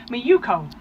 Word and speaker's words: Maiuko: And we have Maiuko. That's correct, yes. Perfect, and a correct pronunciation.